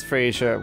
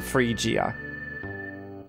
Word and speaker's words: Freesia: went to freesia and the reason why I'm pronouncing it as free sure well you'll see in a moment rather than free gia had the easiest walk